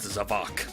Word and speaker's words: Zavok: But apparently, it proves that we've been pronouncing his name all wrong. It's actually pronounced Zavok.